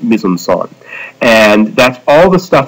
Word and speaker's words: mise en scène: It looks like it's pronounced mise en scene. No, it's French, so it's pronounced weird. It's pronounced mise en scène.